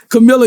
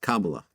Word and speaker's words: Kamala: this show this your people this your people Camilla you gotta say hey I'm a bun now you gotta call it on now he's not right it's not right it's actually pronounced Kamala Kamala Harris I call it Camilla I say everybody's